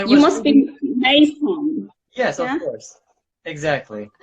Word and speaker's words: Meysam: course, I You was must thinking, be Meysam. yes, of Yeah? course. Exactly. How do I pronounce your name?